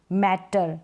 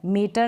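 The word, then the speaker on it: matter: मैटर, मीटर नहीं मैटर।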